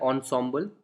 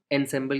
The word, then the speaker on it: ensemble: सो इस वर्ड को प्रोनाउंस किया जाता है ensemble, एनसेम्बल की तरह नहीं प्रोनाउंस किया जाता है, इसको ensemble बोला जाता है।